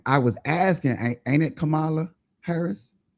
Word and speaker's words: Kamala: Kamala. And y'all still in 2025, y'all still intend on mispronouncing her name, and we've heard it a